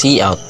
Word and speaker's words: cout: It is pronounced as cout.